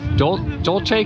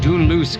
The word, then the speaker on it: Dunluce: It's Dol Dolce Castle, I think it is. So, it's Duloose Castle. That's the right way to say it, or what's left of it.